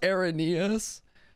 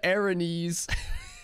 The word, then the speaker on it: Araneus: That's pronounced Araneus. I've said Aranese forever.